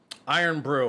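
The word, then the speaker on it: Irn-Bru: how you doing Chris iron Brew okay so that's how you say it uh Aries in the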